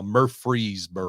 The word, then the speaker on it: Murfreesboro: But I do pronounce it correctly now. Murfreesboro.